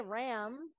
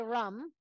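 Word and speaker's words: रं: your eggnog rum again it's spelled r but we don't say Ram in um Sanskrit we say rum so and we emphasize that R sound so let's try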